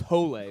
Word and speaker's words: Hole: One of the reasons It's pronounced Hole, which is Did Is that how they say it in the movie?